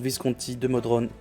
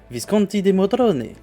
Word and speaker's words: Visconti di Modrone: Her first job is with Count Visconti di Modrone. No, no, it's pronounced Visconti di Modrone, in Milan.